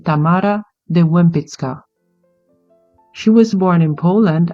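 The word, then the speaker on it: Tamara de Łempicka: sculptors of the world Tamar de Lim or if we go with a Polish pronunciation of her name which is the accurate one we say Tamara de wmit she was born in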